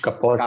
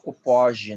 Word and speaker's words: Kaposi: húngaro e parece que o nome dele soava como Kaposi, né? Eu já falei com o húngaro para saber como é que a gente pronuncia. E eles, olha, pode pronunciar de qualquer jeito, porque ele viveu na Áustria, então eu chamo de Kaposi, acho mais eufônico.